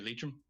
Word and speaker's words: Leitrim: Just say Leitrim.